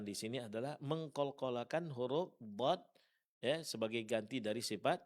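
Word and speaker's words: ض: Kemudian huruf dod tadlil. Dan perlu diperhatikan sifat yang paling menonjol pada huruf d adalah sifat istitalah. Yaitu suara agak memanjang dalam pengucapannya.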